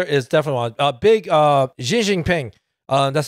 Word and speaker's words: Xi Jinping: everywhere big brother is definitely a big uh Xi Jinping uh that's how you say it properly all